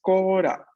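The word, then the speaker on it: コーラ: Eso en japonés es kora.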